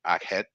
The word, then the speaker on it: Akhet: The seasons of the Egyptians corresponded with the cycles of the Nile and were known as inundation, pronounced in Akhet, which lasted from June 21st to October 21st,